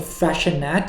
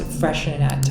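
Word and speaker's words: Freixenet: cava, Spanish sparkling wine, but this one called Freshenet, it's spelled some crazy way. I think I can't even spell it myself. It's F-R-I-X, yeah, F-R-E-I-X-E-N-E-T. It's pronounced Freshenet, I think.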